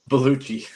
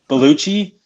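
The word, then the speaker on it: Bellucci: two big ones hon honestly I think Monica bichi bichi is not necessar this how how do you say that one beluchi beluchi yeah good Lord you know why she's in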